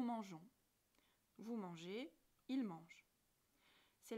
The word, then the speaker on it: mangeons: Mais on ne peut pas changer la prononciation en cours de conjugaison. Alors, pour respecter la prononciation « je », on ajoute un « e », tout simplement. Nous mangeons.